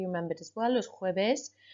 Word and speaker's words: jueves: Hopefully you remembered as well, los jueves, although we pronounce it like an H, it's written with a J.